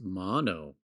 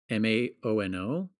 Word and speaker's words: Maono: brand is just pronounced Mono. Maono. probably. Everyone on YouTube is like Moano, Maono. And I'm like, I know it's spelled Maono, but I have a feeling it's just pronounced Mono.